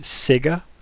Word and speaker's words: Sega: into playing sega and nintendo i was it's pronounced sega so dumb i love it i'm a gallery